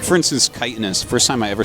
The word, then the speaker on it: chitinous: like for instance, chitinous. First time I ever said that, I said chitinous, and someone was like, wait, what did you say? It's like chitinous. You know, like a beetle? Like, it's chitinous?